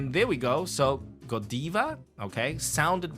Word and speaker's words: Godiva: Belgium yeah so uh they pronounce these words more in English so it will be Godiva oh Yesa yes not Godiva but again in America if you say Godiva same chocolate brand you go to Europe maybe go diva or in Taiwan go diva fine not a big problem